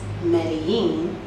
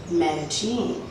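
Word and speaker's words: Medellín: know the city as medellin and the two l's are pronounced as a y however the locals pronounce it as medecine so when you hear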